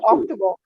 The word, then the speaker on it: October: हाँ नहीं, आक्टू नहीं बेटा, आक्टू नहीं, थूकना नहीं है, बोलो October.